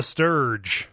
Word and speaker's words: Stirge: we really just mean that sturge rhymes with a couple things so it's some real